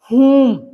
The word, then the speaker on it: whom: whom, W silent है.